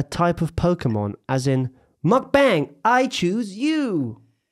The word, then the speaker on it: mukbang: What is a mukbang?